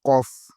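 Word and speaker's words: ق: La lettre Kof, faire attention, Kof.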